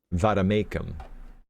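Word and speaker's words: vade mecum: Pronounce Vademecum. Vademecum.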